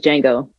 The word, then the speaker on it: Django: But my favorite movie of all time is Django. The Django. The D is Silent Hill, baby.